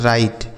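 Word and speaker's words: write: ई से पढ़ते हैं राइट। डब्ल्यू आर आई टी ई से पढ़ा जाता है राइट। यहां डब्ल्यू साइलेंट है बच्चों। मतलब इसको नहीं पढ़ेंगे। लिखा जाएगा लेकिन पढ़ा नहीं जाएगा।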